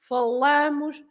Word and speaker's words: falam: stress to the middle, falamos, eles falam. You have to stress falam.